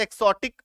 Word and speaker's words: exotic: अभी देखो एक्सोटिक, उच्चारण ऐसे एक्सोटिक लिखते हैं बट पढ़ते एक्सोटिक, ज का हल्का सा ज आता है ना।